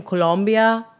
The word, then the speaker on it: Colombia: wasn't 2024 also in Colombia There I go saying it like that.